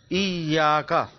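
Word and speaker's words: إِيَّاكَ: Iyaka. There is a shadda on Ya.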